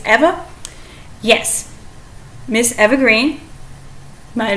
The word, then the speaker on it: Eva: and only ever green either I pronounce it Eva some people might pronounce it Eva I think it's Eva yes Miss Eva Green